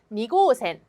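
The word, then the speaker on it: 二号線: 니 고센 . 니 고센 . 니 고센 . 니 고센 .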